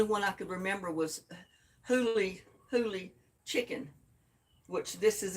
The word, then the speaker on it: Huli: And I had to look up to see how it was pronounced because I didn't know if it was Huli or Hully or how you pronounced it, because it's Huli.